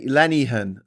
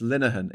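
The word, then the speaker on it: Linehan: Um, Lenny Lennyhan. Lenny Han says one uh angry pagan in capitals. No, it's it's it's Linuhan. It's spelled L I N E H A N.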